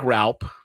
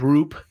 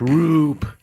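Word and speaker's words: Roupp: Looks like Raup, but it's pronounced Roop. That's not Boo, they're saying. That's Roop.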